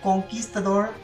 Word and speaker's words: Conquistador: Obviously, the Conquistador, and it is pronounced Conquistador, and also look at my lovely brick that I drew.